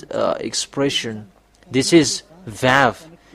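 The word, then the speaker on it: וָו: When we have seen this one that v equals vav like uh vug as a pronunciation.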